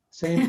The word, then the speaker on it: salmon: off tin it's often same thing with salmon it's not salmon it's sam the l is silent in salmon the tea is silent